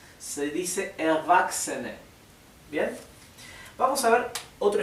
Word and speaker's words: Erwachsene: Fíjense que CHS, creo que lo mencioné en una de las primeras clases, se pronuncia x, ¿sí? O x, así, ¿bien? Así que la CH no tiene el sonido ¿bien?, sino que la combinación de las tres es x. Por eso acá no se dice Erwachsene, se dice Erwachsene.